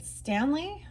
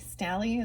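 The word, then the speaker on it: Staley: Uh and it's also an anniversary of the death of Lane Stanley, Stally, Stally is how you say it, from Allison Chains.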